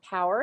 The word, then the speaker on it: Paour: also have on linkedin my name is power and it's spelled p-a-o-u-r and i also have